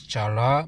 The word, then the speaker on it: challah: So they don't pronounce C.